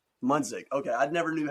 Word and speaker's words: Munsick: Munsick. Munsick.